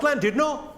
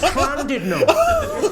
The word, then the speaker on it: Llandudno: This guy, front and centre, where you're sitting there, face like fucking thunder, went, it's not Llandudno, you bloody fool. It's Llandudno. In Wales, the double L is pronounced with a C.